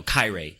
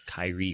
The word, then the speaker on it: Kairi: like they're like like you know Kai Rey like it's Kairi or some [ __